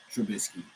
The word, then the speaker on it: Trubisky: Yeah, Deshaun, Lamar, Burrow, Mitch, Trubisky. That's how you pronounce his name.